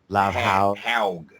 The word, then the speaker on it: Lovhaug: there it is, Louis Lovehog. It can't be how you pronounce it. That's not how you pronounce it. That is how he pronounces it himself. No. It's got to be. It's pronounced Lovhaug. Lovhaug.